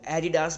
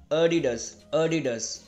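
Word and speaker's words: Adidas: जानते ही होंगे, लेकिन इस ब्रांड को इंडिया में इसको बहुत ज्यादा लोग एडिडास बोलते हैं, जो बहुत ज्यादा गलत होता है। इसको आप प्रोनाउंस करेंगे अडिडास आप बोल सकते हैं,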